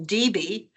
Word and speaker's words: Debe: My name, for example, Debe, I've seen it in the records as. I've seen it as, and with one P and one I, and with E's in there. So it's spelled numerous ways, but I have to understand my ancestors were German, and he spoke with a very thick German accent.